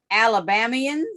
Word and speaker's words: Alabamian: I want to share something that some of your former Alabamians, and is that how you say it? Alabamian? Some of your yes, ma'am, Alabamians.